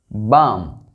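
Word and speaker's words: balm: इन सभी वर्ड्स में एल जो है वो साइलेंट है।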